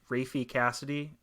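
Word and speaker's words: Raffey Cassidy: uh this um young British girl played by rafy Cassidy is that how you say her name yeah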